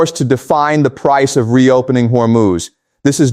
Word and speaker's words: Hormuz: Keshum sits in the mouth of the straight of Hormuz pronounced Hormuz.